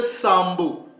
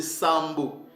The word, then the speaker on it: Sambo: ont gardé ça donc ce mot-l se prononcé Sambo c'est comme ça que nos pères le prononcé Sambo qui veut dire 7e